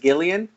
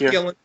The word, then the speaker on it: Gillen: Is it Gillian? Nope, just Gillen.